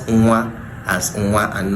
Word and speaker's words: nwa: So we pronounce nwa as nwa. Now, nwa is how we pronounce it.